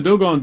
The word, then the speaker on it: Dogon: And he said, "But the most amazing African tribe are called the Dogons. The Dogons." He mispronounced what we now know as should be Dogon.